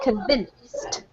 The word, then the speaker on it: convinced: this one is convinced convinced y got a t sound at the end convinced convinced okay yep well